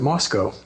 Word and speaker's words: Moscow: It is, yeah, except for some reason we pronounce it Moscow.